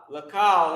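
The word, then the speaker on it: לכל: Like not C-O-W, but K-A-L. Kal. Alright? And that's pronounced lakal.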